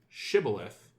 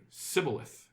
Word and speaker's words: shibboleth: you would pronounce it shibboleth, but if you were from the other team, the other faction, you would pronounce it Sibboleth.